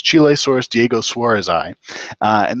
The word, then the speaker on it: Chilesaurus: and it's a really weird dinosaur it's called chilesaurus U we just look look at the name to make sure I'm pronouncing the um species name right so it's chilesaurus Diego Suarez ey uh and this is a